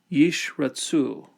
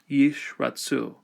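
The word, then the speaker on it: ישרצו: Or again, when there's two Sheva consecutive, the first one is silent. Yishratsu, let them swarm. So the first one will be silent, the second one will be vocal. Yishratsu.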